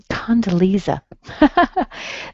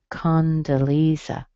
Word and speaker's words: Condoleezza: Condoleezza. Okay. Condo. I think it's Leeza.